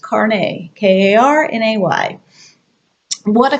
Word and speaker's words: carnet: looks a little silly car net CRN ET actually pronounced karne ka RNA why what